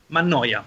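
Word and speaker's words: Mannoia: each other um first fiorella Manoa Mana how do you say that Manya there you go that one I thought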